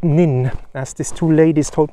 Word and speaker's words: Nans: the far gala it's written nuns but it's pronounced nin as these two ladies told me before so